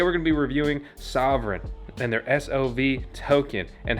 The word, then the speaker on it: Sovryn: of the sov token sov sovereign but it's not spelled like the sovereign you may be thinking of it's spelled differently